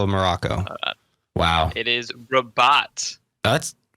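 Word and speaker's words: Rabat: morocco wow it is rabot let's spell it please yeah please because it sounds like you're just saying robot in a fancy way almost like robot it's just r o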